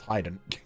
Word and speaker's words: Haydn: named after hide in the composer which is pronounced Hayden and like people knew that and like it